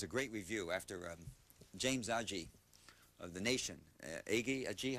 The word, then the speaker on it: Agee: great review after James Agee of The Nation. Agee, how do you, Agee? A-G-E-E, I never knew how to pronounce it. Hard G or soft G?